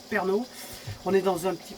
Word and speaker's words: Pärnu: Nous ici, on est, regardez sur la carte, on est à Pärnu, ça se prononce Pärnu.